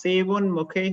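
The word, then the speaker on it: sevonmukhe: It's Sevan Mukhe hi Jiva though. Sevan like Seva.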